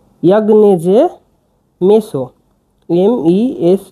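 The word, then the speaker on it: meso: গ ইন এনজি ইন এ আবার যে ইয়াগনেজে মেসো এমই এস ও মেসো এটা ভেঙ্গে দিয়ে এটা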